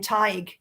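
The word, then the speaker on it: Tadhg: is are they going to be able to pronounce the names and in fact in my Irish series I I use the name TIG in one of the books um I can't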